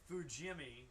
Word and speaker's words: Fujimi: So it's F-U, Jimmy.